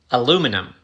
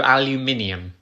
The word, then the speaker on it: aluminium: next word i have is aluminium it's a metal aluminum no aluminium aluminum you're losing a syllable aluminium aluminum how are